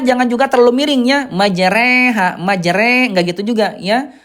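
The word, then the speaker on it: مجراها: Condong ya condong miring ya antara fathah dengan kasrah menjadi kayak ke e majre. Majreha tidak majro gitu ya.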